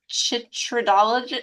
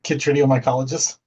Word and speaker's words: chytridiomycologist: is a mycologist, and I don't think I can pronounce chytridology. Is that correct? Do you want to tell me? A chytridiomycologist.